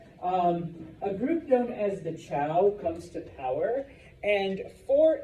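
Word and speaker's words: Zhou: But eventually a group known as the Chow, and it's pronounced Chow, even though I know there's a Z there. A group known as the Chow comes to power, and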